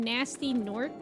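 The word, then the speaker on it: Gnasty Gnorc: The G is silent in Nasty Gnork.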